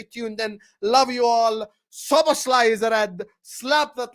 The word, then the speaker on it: Szoboszlai: You keep saying I pronounce his name wrong. I don't pronounce his name wrong. Szoboszlai. That's it, done. Dominik Szoboszlai. I've said it correct this entire stream.